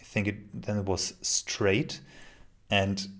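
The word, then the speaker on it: Strade: it then it was straight and if you write it down s-t-r-a-d-e it looks good i think i still think but if you pronounce it if you say it well it's straight and people will write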